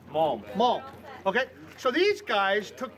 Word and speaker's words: Malm: And I've got the guys, I tell you what, I got Scott Cook and Jim, how do you pronounce the last name? Malm. Malm.